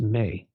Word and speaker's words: me: the tablets of Destiny it was spelled me pronounced may all computers that on